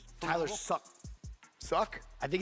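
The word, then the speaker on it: Shough: Spelled with an S. Slow. No, it's Tyler Shuck.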